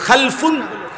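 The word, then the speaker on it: خَلْفٌ: রকম আরবিতে একটা হলো খালফুন আরেকটা হলো খালাফুন একই শব্দ শুধু উচ্চারণের মধ্যে একটু ভিন্নতা মাঝখানে একটা লাম আছে এই লামটার মধ্যে যদি সাকিন হয় তাইলে হলো খালফুন আর যদি লামের মধ্যে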